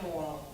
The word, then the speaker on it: Morrill: How I introduced myself occasionally as a Republican running as a delegate is my name is Morrill, and moral is pronounced as in good moral principles.